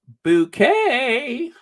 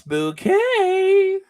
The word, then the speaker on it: Bucket: sings this song like Hyacinth Bucket and that's pronounced bouquet that's bouquet Mrs bucket that's bouquet Sean you know